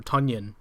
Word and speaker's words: Tonyan: have a game or tonyan i don't know if you guys knew nobody yeah funyun yeah it rhymes with funyun so um i think